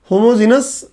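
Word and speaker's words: homogeneous: मिश्रण के प्रकार, मिश्रण के प्रकार में, मिश्रण के प्रकार में एक लिख लो समांगी मिश्रण, समांगी मिश्रण, होमोजीनियस, जीनियस नहीं जीनस, होमोजीनस मिक्सचर, और दूसरा होता है विसमांगी मिश्रण, विसमांगी मिश्रण जिसको हम बोलते हैं हेट्रोजीनियस।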